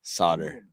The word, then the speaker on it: solder: It's got an L in it. Solder. It's not SODER. No, it's not. There's an L in there. Solder.